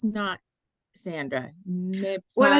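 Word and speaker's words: non: here so okay n n o n is still pronounced no okay one of these no no you feel it go up in your nose when you do that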